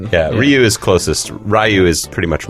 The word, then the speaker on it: Ryu: Sometimes I'll say Ru, which is not right, but the correct pronunciation in Japanese is sort of their weird DR combination sound. Right. Like Ryu.